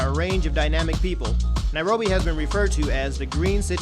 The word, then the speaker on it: Nairobi: Sun yeah nothing all right last in it rhymes with slime OB and rifles today we'll be touring Kenya's capital city nairobi visit his rich history its unique landmarks find